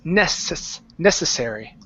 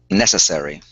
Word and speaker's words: necessary: The C and the double S are both going to be unvoiced S's. So instead of saying necessary, it's necessary. Necessary.